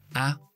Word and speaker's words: apple: Apple. whole, dos sílabas.